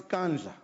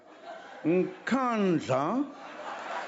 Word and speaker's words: Nkandla: You know, some people who could not pronounce Kandla, they've now learned Nkandla, Nkandla, Nkandla.